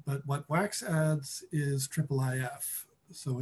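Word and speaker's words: IIIF: uh and and yeah the official pronunciation it's in the spec is triple if just so everyone knows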